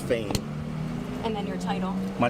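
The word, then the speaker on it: Phayme: Last name is spelled P H A Y M E, pronounced Fain.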